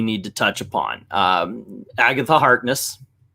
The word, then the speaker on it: Agatha Harkness: to touch upon um agatha harkness i said it right this time yeah okay i think i was calling her agatha harker or something like that the first yeah it's